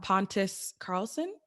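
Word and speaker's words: Pontus Carlsson: and you can correct me, Josh, if I'm pronouncing it wrong, Pontus Carlson.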